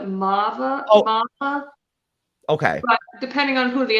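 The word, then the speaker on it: Maarva: her name would pronounce marba it's an extended a like it's like it's it's almost like you don't hear completely the r in it but it's supposed to be like a mava okay depending on who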